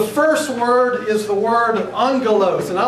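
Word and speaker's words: ἄγγελος: Now you'll notice that it looks like agalos. But when there are two gammas together in a word such as this, it is pronounced almost with an N sound, angelos.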